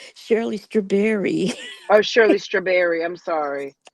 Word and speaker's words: Shirley Strawberry: to testify yes and you said it wrong it's Shirley straberry oh Shirley straberry I'm